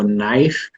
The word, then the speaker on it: knife: word like knife right so knife k-n-i-f-e all right so what originally it should be n-i-f-e by logic if we deduce this right but we got a k in there which is silent why because they wanted